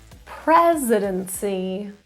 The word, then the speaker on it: presidency: sure you have them presidency the stress is on the pre constituency the stress is